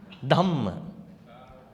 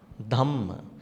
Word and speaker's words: Dhamma: Dhamma. Dhamma. Because this is called aspirate. In English we call it aspirate. So you have to pronounce with the H.